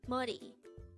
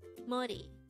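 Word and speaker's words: 머리: Mori muddy this is pronounced as a two-syllable word the first syllable is ma and the second syllable is re pronounce it with me Modi Modi the word Modi is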